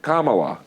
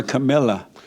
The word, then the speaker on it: Kamala: Fact check Kamala. Yeah. Finally said it right. Interrupt her once. I call her Camilla.